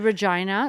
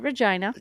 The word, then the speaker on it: Regina: We went to Saskatchewan, to Regina, Saskatchewan, where my mother lives now. They got it. Yeah, they could call it Regina. It's spelled the same. They go out of their way to call it Regina.